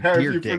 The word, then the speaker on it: Dyrdek: It's literally Dyrdek. That's how you say it.